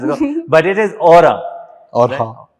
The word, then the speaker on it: Orxa: And you can pronounce it in a certain number of ways depending on which language. So we played around with a bit and we kind of settled on Orxa.